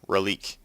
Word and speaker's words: Relique: grab him a Grail Relique, or Relique, as it's pronounced in the game.